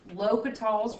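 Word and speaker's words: L'Hôpital's: this is a video on lokital's rule that's how it's pronounced l'hopital's um and i actually it can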